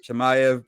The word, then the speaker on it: Chimaev: you know let's get to the fight uh chemiev did i say it right yes you got